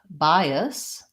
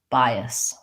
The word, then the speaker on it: bias: it's long short chaos but in bias bias we also have first syllable stress so the line shows a syllable stress by diphthong I bias and in this a s is a reduced schwa sound like we were talking about earlier in the reduced syllable so long short bias so when there's a